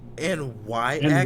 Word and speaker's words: Nyx: Wait, N Yx. Y would be Nyx. I about to say that's Nyx, not Knox.